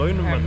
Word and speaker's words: aluminum: Come on, we speak English, we just speak better like aluminium instead of I have aluminum.